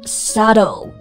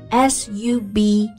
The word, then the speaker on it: subtle: 但它同样不发音。Like, subtle, S-U-B-T-L-E, 表示呢不易察觉的微妙的。